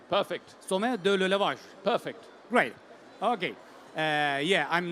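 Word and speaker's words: Sommet de l'Élevage: SOMMET de L'ELEVAGE. Is this the right pronunciation? Perfect. SOMMET de L'ELEVAGE.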